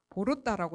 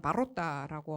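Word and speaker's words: Ворота: 그리고 이거 밑에 있는 유적이 이제 초르토브이 보로따라고 쓰는 거는 국립국어교육원의 외국어 표준어상 그렇게 적어야 된다고 해서 보로따 오오는 오오라고 적어야 된다고 해서 오지만 러시아 발음상은 바로따라고 하고 이 뜻은 뭐 악마의 문 뭐 이런 뜻인데 그게 동굴유적입니다.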